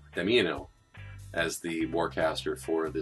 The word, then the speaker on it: Damiano: So Miss Shinobi as well as Kinsatics were helping me with my pronunciation. I have to admit that it's Damiano as the warcaster for the Steelheads, and also the other one that I have to admit I butchered.